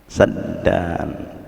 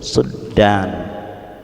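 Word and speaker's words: سدا: Kita bacanya apa? Saddan. Ada. Jadi qiraah yang sabda itu ada yang baca suddan.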